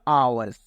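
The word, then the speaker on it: hours: मैन वड talk for आवर्स यहां पर जो एच होता है वह साइलेंट रहता है आवर्स पढ़ते हैं इसको ए यानी जैसा कि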